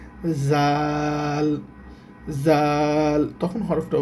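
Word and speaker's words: ذ: নাম হচ্ছে দাল আর দালের উপরে যখন এক মুক্তা থাকে তখন হরফটার উচ্চারণ হবে জাল জাল তখন হরফটার উচ্চারণ হবে জাল আচ্ছা এখন দেখেন দাল আর এই যে এই অক্ষরটা অনেকটা একরকম।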